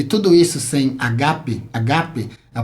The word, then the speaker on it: agape: da nossa carreira e tudo isso sem agape agape a pronúncia é essa mesma Tá bom vou deixar